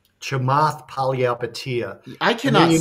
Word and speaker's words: Chamath Palihapitiya: Chamath Palihapitiya.